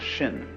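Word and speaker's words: 心: In Chinese, mind is this word pronounced shin.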